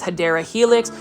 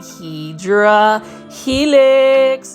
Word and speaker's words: Hedera helix: The correct way to say it is Hedera helix. For those that are new to the channel, I mispronounce it by saying Hydra helix because it is a Plantfoldy inside joke.